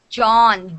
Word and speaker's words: John: of people john exactly so you're saying it like young okay okay so it's not young it's john jeff so again you're doing yeah so here when you say when you say young so you say young like this young okay but this is john john okay young john yeah